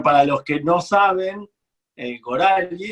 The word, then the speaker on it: Gorali: Y bueno, para los que no saben, Gorali, en realidad acá en general lo pronuncian Gorali, pero el origen es, en hebreo es Gorali, que significa mi destino, Goral Sheli.